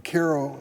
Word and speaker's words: Cairo: 102 counties in the state of Illinois from Cairo as we pronounce it all the way to Chicago even